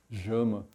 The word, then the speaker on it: LLAMA: Llama é a pronúncia espanhola da coisa, mas é um projeto que é junto com a Argentina, e os argentinos dizem Jama.